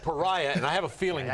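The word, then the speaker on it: Peria: He came in, he says, how do you pronounce that new guy, our first draft choice, first name again? You guys, and it's Pariah Jerry, and you kind of knew that.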